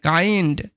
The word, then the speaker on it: kind: যেমন একটা এক্সাম্পল দিতে পারি, KIND, এটার উচ্চারণ কি হয়? কাইন্ড, ঠিক আছে।